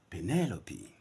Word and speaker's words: Penelope: I've consulted Kalashnikov Gorbachev this noun is Penelope penelopy that's the sound which is found in the dictionary two common nouns now